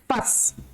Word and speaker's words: fuss: पूस नहीं बोलेंगे, फस।